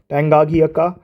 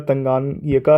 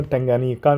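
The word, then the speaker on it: Tanganyika: ठीक, फिर आता है लेक टंगाघियाका, तो ये माफ़ कीजिएगा, प्रोनाउंसिएशन गलत हो गया, तंगानिका है ये लेक। थोड़ा सा प्रोनाउंसिएशन बियर कर लीजिएगा, टंगानिका नाम कह सकते हैं इसका।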